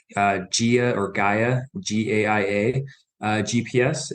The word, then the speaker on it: Gaia: I pronounce it Gaia, GAIA.